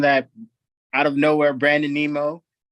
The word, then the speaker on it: Nimmo: I like how you said his last name though, Nemo, like Finding Nemo. Right? Is that how you say it, right? I don't know. Nimmo.